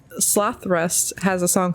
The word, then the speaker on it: Slothrust: It's spelled SLOTHRUST, but on their drum kit it says Sloth Rust. It's not Slow Thrust like you think it would be.